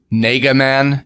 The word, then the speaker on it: Nega Man: that his name was Nega Man, and I'm saying it that way on purpose. It's Nega, like negative, like Negaduck and Eggman Nega.